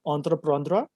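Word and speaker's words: entreprendre: a french verb which means uh which is pronounced as anthraprandra which means to undertake so entrepreneur means to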